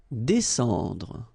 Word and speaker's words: descendre: Descendre. Well, even if you've got this combination of S and C here, you just pronounce it S.